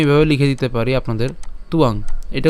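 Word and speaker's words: ত্বাং: সুবিধার জন্য আমি এভাবে লিখে দিতে পারি আপনাদের তুয়াং এটা উচ্চারণ করেন তাহলে আশা করি আপনারা পারবেন তুয়াং ঠিক আছে তুয়াং এরপর মহারথা এরপর ইয়ে সাং চ এটাও সেম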